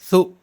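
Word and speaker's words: ثُ: تو پیش آئے گا تو اس کا تلفظ سو آئے گا، شو تو نہیں ہو جائے گا۔ لیکن بہت سارے لوگ پیش کے چکر میں ثا پیش شو پڑھ دیتے ہیں، تو آپ یہ غلطی نہ کریں اور بچوں سے بھی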